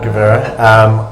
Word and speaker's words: Guvera: Get the name right, Guvera. I hadn't learned how to pronounce the name either prior to coming back.